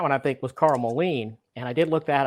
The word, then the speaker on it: Moline: with when that the interior on that one I think was Carl Moline, and I did look that up, and it is pronounced Moline. So it's like Matthew Modine, but Carl Moline.